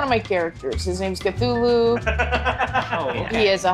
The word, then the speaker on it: Cthulhu: How do you pronounce that? Cthulhu? What? Cthulhu.